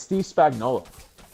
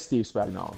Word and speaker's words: Steve Spagnuolo: You could start with it's Steve Spagnuolo. What up, Luca? It is Steve Spagnuolo.